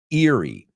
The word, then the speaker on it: Erie: the fifth one and I guess this one was the toughest one was Eerie Erie Pennsylvania as it's called Erie and that is spelled ER i e yeah see I told